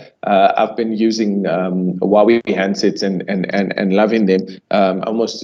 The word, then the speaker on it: Huawei: And yes, you've pronounced Huawei correctly. There's no right or wrong way to pronounce it. It's pronounced differently, just like you mentioned at the beginning how your name is pronounced differently.